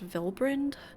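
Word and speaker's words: Vylbrand: across the sea unto vilbrandt okay that's pronounced viland noted vbr I only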